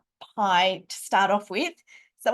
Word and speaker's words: pi: Where did the pies get in? Why does Judy-Ann and Tom want to feed us pies today? Well, it's a homophone in English. They sound the same.